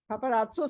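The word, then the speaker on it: paparazzo: पापारात्सो जो भी Italian word में 2 Z इकट्ठे आते हैं ना, तो पहले Z की प्रोनाउंसिएशन त और दूसरे की स हो जाती है.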